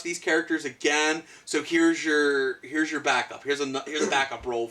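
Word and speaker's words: Yeoh: have sworn that Michelle, it's pronounced Yo.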